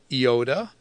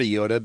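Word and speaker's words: iota: really affect the pronunciation it does affect the pronunciation of the Yoda with the short Yoda being an S sound in the long Yoda being an e sound in modern Greek Yoda is mostly taken as long so if you wonder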